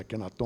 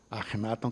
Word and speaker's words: Akhenaten: Por isso que Akhenaten, que é Amenhotep IV, que mudou o nome para Akhenaton, ou Akhenaten, que é o mais próximo da pronúncia egípcia, queria reimplementar uma coisa